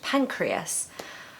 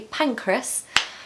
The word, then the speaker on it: Pancras: for a long time I was pronouncing it like this and no one was correcting me um and so I worked out that it's actually pancreas so Kings Cross sent